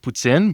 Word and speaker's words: poutine: It's pronounced poutine, but sure.